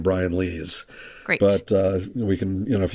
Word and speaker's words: Lees: And that I should also say my last name is pronounced Lees, not Lies. It's spelled like lies, but it came from Luxembourg.